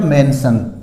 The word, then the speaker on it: mention: TiAl cell, TiO1 सन, तो MENTiO1 क्या हो गया, मेंशन।